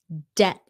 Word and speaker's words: debt: You don't pronounce the B. You don't pronounce the B debt la um you know like uh okay debt.